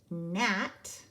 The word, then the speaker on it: gnat: you see this card you will say gnat ghost digraph GN mm-hmm and this is